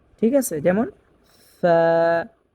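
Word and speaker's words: ف: Agar সাথে লাগি যেমন সামনের উপরে দুই দাঁতের আগা নিচের ঠোটের পেট এর সাথে লাগবে। ঠিক আছে? যেমন ফা ফা কফ কফ উচ্চারণ হবে চার নাম্বার মাখরাজ থেকে।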